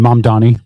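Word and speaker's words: Mamdani: I mean, how what kind of exodus of big business left New York City when Mama I can't pronounce it without reading. Mom, Donnie.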